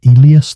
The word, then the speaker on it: Elias: Elias Thorne, pronounce Eli as Thorne, but felt too pat like a breadcrumb dropped for a fool.